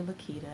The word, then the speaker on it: LaQuita: It's actually LaQuita. I think I've discussed that before. It's LaQuita, but it's spelled with a Q, so most of the